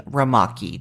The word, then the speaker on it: Rumaki: ago from my mom when she was making ramaki. Do you remember ramaki? If you don't know what I'm talking about, it is spelled Rumaki, and it seems to have originated